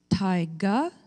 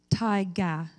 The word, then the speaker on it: taiga: Your word has two pronunciations, taiga, taiga.